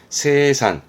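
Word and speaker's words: 清算: 발음은 세산.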